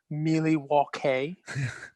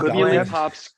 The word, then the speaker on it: Milwaukee: In fact, isn't it pronounced Milwaukee? Hey, I don't know. Isn't that Algonquin? It's pronounced Milwaukee for the good Algonquin for the good land.